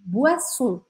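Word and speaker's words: boisson: olha como é engraçado se escreve com oi né bo mas a gente fala a por qu porque em francês o com i a gente sempre vai pronunciar o a bo bo bebidas no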